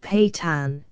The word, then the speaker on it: Pathans: Pathans, pronounced Patan, an Afghan race settled in Hindustan and in eastern Afghanistan.